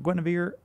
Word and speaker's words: Guinevere: Guinevere, am I pronouncing your name correctly?